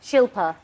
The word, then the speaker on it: Shilpa: Because, I mean, at the end of the day, you know, Shilpa, 2 syllables, not that difficult.